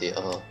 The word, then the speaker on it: Seo: I think it's pronounced Seo. So. It's so. The I is silent.